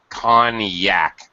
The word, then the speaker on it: Cognac: okay yes it is excellent notice the interesting pronunciation of this English word conac con Yak it's weird uh with the G and French